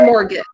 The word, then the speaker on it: mortgage: 29 march once again more mortgage yeah we pronounce it mortgage good number 30 recipe number 31 cauliflower number